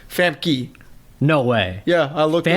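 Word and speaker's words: Famke: fam K yeah actually apparently the way you pronounce her name is fam key no way yeah I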